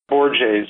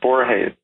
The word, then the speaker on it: Borges: One of these is by an Argentinian novelist who I cite a number of times in my book, Borges, or some people pronounce it Borges.